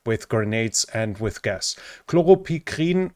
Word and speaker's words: chloropicrin: Chloropicrin, or chloropicrin, I think is then the English pronunciation, is a lung agent that was used in World War II as a chemical weapon.